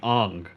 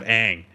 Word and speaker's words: Aang: In the movie, they call him like Ong, instead of Aang.